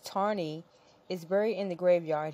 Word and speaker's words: Taney: Justice of Supreme Court Taney pronounced tarney is buried in the